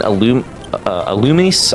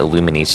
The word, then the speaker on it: Illumise: But I will say here, though, this, for whatever reason, Illumise, I always pronounce it Illuminese just because I'm not looking at the names.